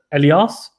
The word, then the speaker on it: Elias: to pronounce my name you can say how you would say elliot but with lias in the end that you say the same so elias elias is that right